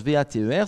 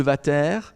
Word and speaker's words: Vater: Si on le prononce V-A-T-E-R, si on le prononce à l'allemande, ce serait l'ampoule de Vater.